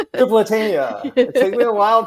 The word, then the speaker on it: Tripolitania: I don't know if that happens for anybody else, and I don't know why, but I think of ice cream. Yeah. Like Neapolitan.